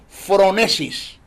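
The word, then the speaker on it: phronesis: lo que se conoce en el griego como fronesis se escribe pH H R o n e s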